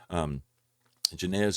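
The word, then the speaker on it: Jannes: These teachers oppose the truth, just as I believe that is pronounced Janez and Jambres, or Jamburus, opposed Moses.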